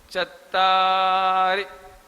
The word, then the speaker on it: चत्तारि: चत्तारी, रा में छोटी की मात्रा होने से उसका उच्चारण लघु कहलाता है, ह्रस्व, ह्रस्व कहलाता है वो।